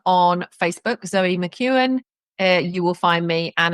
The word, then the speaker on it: McKeown: So, because when I say McKeown, I'm thinking of McKeown's Lager, who used to sponsor Blackburn Rovers. And yeah. that's spelled very different to your name, but Yeah. there you go. For those listening along at home, McKeown, McKeown. Zoe McKeown.